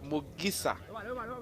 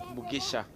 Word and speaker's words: Mugisa: Mugesha Kasim Okasim Misa Mugisa that is the correct pronunciation. In Bonor it is Mugisa and I call it could be called Mugisha long from Siumba headed going to be a throw in for college boys.